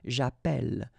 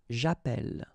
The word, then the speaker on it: j'appelle: in the previous video, if you have double L like that, it will affect the pronunciation of the E. So actually it will open the sound, and that's the reason why you will get the sound E, okay?